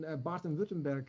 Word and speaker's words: Baden-Württemberg: You're from the north of Germany, went south from Hamburg to Stuttgart, and you're now in Baden-Württemberg, if my pronunciation is correct.